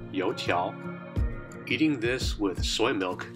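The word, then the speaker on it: 油条: and a Chinese sandwich this hauling thing is called a Chinese doughnut stick or in their language it is pronounced yo Chow eating this with soy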